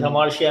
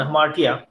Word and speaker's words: hamartia: Yeah, it's pronounced variously as hamartia and hamartia.